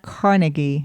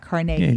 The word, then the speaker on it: Carnegie: we always talk about pittsburghers call it Carnegie melon it's not Carnegie melon it's Carnegie yeah I remember the first